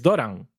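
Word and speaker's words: Dorán: Una tilde ahí Sí, pero tontorrona. sigue siendo una palabra llana.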